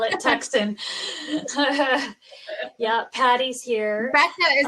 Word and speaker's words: Tucson: Tucson, why do you have to spell it that way? I know it's Tucson, right?